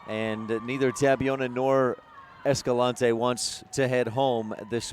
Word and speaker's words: Escalante: s Kalani s gallant Escalante is my preferred pronunciation I think the Mokey's